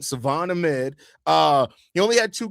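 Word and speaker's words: Salvon: Savon Ahmed or sorry, they said the L is silent Savon Ahmed he only had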